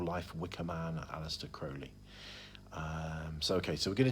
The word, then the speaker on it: Crowley: words that could be could be pronounced Crowley all Crowley ozzy osbourne famously did a song called mr. Crowley which is an excellent song but but it is actually Crowley and we know this